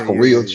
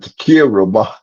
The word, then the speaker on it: taqueria: But she pronounced it Takira. My wife would do. No, she didn't. I'm trying to. My Could you wife, nigga, imagine? that is Taqueria.